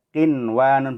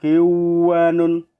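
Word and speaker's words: قنوان: Qinwanun, bukan kiwanun, ya. Tapi qinwanun. sinwanun, bukan siwanun tapi sinwanun.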